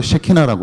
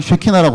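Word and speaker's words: שכינה: 무슨 말이냐면, 하나님의 영광을 우리가 히브리어로 쉐키나라고 그래요. 이제 발음을 좀 주의하셔야 되는데, 영광을 쉐키나라고 하는데, 이 쉐키나 하나님의 영광을 사람에 비유를 합니다.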